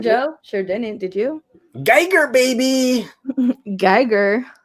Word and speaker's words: Geiger: Geiger, baby. Geiger. Or Gigger, as they pronounce it in the UK, apparently.